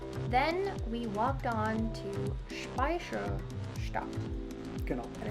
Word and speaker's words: Speicherstadt: Then we walked on to Speicherstadt.